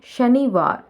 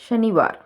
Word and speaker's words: शनिवार: Pronounce the word correctly. शनिवार. குழந்தைங்க வாசிக்கும் போது எப்படி சொல்லுவாங்கன்னா சனிவார்னு சொல்லுவாங்க. சொல்லிக் கொடுங்க. शनिवार.